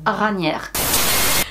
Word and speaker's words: Raniere: Bref, on va le prononcer à la française, Raniere.